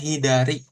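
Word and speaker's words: 左: kiri artinya e bacanya hiidari.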